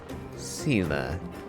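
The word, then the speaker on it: Seele: Sela. Not the way I would have pronounced that, but... Never actually heard that name spoken.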